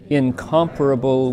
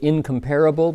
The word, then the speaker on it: incomparable: That's, you can pronounce it incomparable, but it's incomparable. Hit the com. Incomparable, right? So the parable is unaccented. It's literally like immeasurable, incomparable, inexpressible, like that.